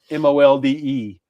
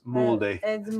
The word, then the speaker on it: Molde: It's like uh M-O-L-D-E. It's like, "Okay, this is a mold town." Yeah, no, it's Molde.